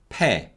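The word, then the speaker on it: 폐: in korean is pronounced pe per and this way of the y-glide vowels yeah being pronounced as air is very common and we call this weakening of the y-glide vowels to give you another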